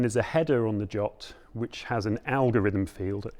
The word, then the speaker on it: JWT: Json web token or jot standard that is the official pronunciation of JWT is jot um and uh it